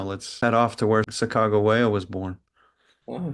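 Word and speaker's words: Sacagawea: we do now let's head off to where Sago wayo was born oh shakago waya Saga that's how you say it yeah that's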